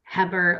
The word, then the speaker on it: Heber: uh and it's pronounced Heber like Weber grills but with a Hubbard